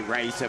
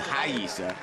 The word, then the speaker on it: Rayssa: As it sees on the screen, we say Rayssa, but it's actually Rayssa, correctly pronounced in Brazil.